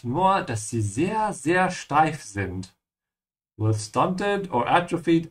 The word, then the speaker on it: steif: Remember to pronounce the st like sh. Yeah, because the s is before a t.